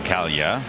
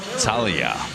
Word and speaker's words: Talia: Apparently, the lifter we've been calling Kalia, which I have to say I heard over the PA system, is pronounced Talia.